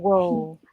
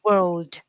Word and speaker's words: world: The D is there. You have to produce it. It's not world. It's world. Yes, absolutely. And I think that a lot of times, if you don't give enough time and space for the L and the R, right, then ends up sounding like word.